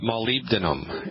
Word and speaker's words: molybdenum: Carpal tunnel, we believe, is caused in part by a deficiency in a strange mineral called molybdenum. And let me spell that for you.